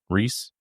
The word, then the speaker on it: Rhys: pronounce that? Reese.